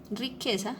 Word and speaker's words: riqueza: Entonces, riqueza tiene el acento en la sílaba que.